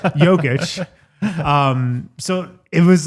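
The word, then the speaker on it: Jokić: He didn't say Nerkich, so he said Yogic.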